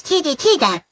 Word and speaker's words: TV3: System Television Malaysia Berhad, operating as TV 3, pronounced as TV Tiga, is a Malaysian free-to-air television channel owned by Malaysian media conglomerate Media Prima.